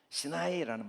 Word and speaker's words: 시나이: 시나이 광야. 시나이라는 말이 히브리어를 그대로 읽은 게 시나이거든요. 시내라는 말은 이제 영어식 발음이고 시나이 그대로 읽으면 시나이인데, 이 시나이라는 말이 사맥